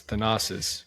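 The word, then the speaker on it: Thanasis: Is it Does it pronounce Thannis? No. No. No. It's Thanosis.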